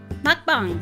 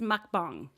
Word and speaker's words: mukbang: I think it's mukbang. Mukbang. Yeah. Like a bong.